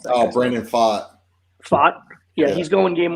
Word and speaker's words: Pfaadt: Fat? How do you pronounce that? Oh, Brandon Pfaadt.